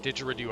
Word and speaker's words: didgeridoo: when someone needs treatment didgeridoo yes thank you for correcting my pronunciation on that didgeridoo I've been saying it wrong okay so we